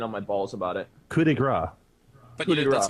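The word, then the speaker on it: coup de grâce: Coup de grace.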